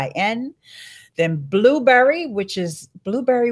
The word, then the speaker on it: Blubrry: Then Blueberry, which is Blueberry without the E's. I'm not sure why. Somebody says, oh, my friend Dave Jackson says, because E's are evil. I don't, but it's spelled Blubrry.